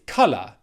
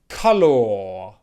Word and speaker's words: color: your pronunciation of the word color the correct pronunciation is color not color color or color color color okay in American